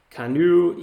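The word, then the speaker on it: Canoo: right yeah um wait canoe here it is c-a-n-o-o this is an ev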